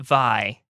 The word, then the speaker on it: Vi: a booklet that says it is pronounced V like B, even though I was saying it Vi earlier.